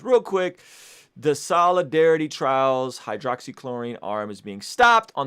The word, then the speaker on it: hydroxychloroquine: The evidence, check this out, the evidence does not apply to the use of hydroxychloroquine, that's how you say it, hydroxychloroquine, for preventing COVID-19 infections or treating non-hospitalized patients.